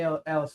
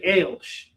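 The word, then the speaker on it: Aleš: early Alice Scott. Yeah. His name is actually Ailsh. It's spelled Alice, but he goes by Ailsh.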